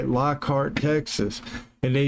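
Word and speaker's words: Lockhart: They it's spelled like I say Lockheart, Texas and they it's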